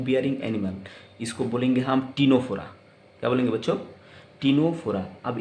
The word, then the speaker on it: Ctenophora: और आप जानते हैं कि टीनोफोरा का ये जो सी है ये प्रोनाउंस नहीं होगा, टी से प्रोनाउंस होगा, टीनोफोरा, राइट।